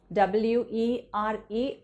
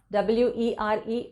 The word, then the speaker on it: were: के बारे में बात करनी हो तो मुझे वर बोलना है, WERE, वर। मैंने बहुत सारे लोगों को सुना है WERE वेर बोलते हुए, but that is the wrong pronunciation.